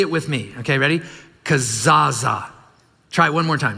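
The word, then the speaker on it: kezazah: Kazaza. Try it one more time. Ready? Kazaza. Yeah. And this ceremony, it's spelled K-E-Z-A-Z-A-H is how it's, so if you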